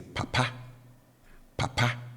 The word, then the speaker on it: papa: is low and then the tone on the last syllable is high so I have the low tone marker on the first syllable and then the high tone Mara on the second syllable so I say papa